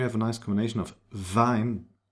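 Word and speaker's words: Wien: And here we have a nice combination of vine, v, the German w, and ei. Vine. That's not wean. It's vine. And the combination I E is pronounced like E. It's a long e vinpel z lead.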